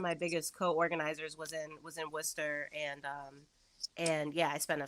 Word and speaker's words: Worcester: the way that I'm screaming because I've actually never heard someone pronounce the R in Worcester.